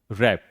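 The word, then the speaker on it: wrap: डब्ल्यू कब silent होता है? जब शब्द डब्ल्यू से शुरू हो और उसके ठीक बाद क्या हो? आर हो। उस कंडीशन में डब्ल्यू साइलेंट होता है। देखिए, स्टार्टिंग हो रही है डब्ल्यू से, उसके बाद क्या आ रहा है? आर। क्या पढ़ेंगे? रैप। डब्ल्यू को नहीं पढ़ेंगे, साइलेंट है।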